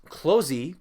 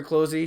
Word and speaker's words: Clozee: So after Atrophia, Closey came on, and I will admit that I wasn't too familiar with Closey's music.